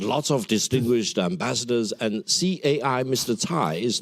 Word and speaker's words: Cai: Now, another point, very interestingly, I listened very carefully to what Ambassador Cai, it's pronounced as Cai, said, and I was intrigued that this Cai,